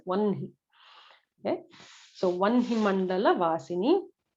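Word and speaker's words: वह्नि: Vahni is what it is written as if you're reading it in English, but it should be pronounced as Vanhi.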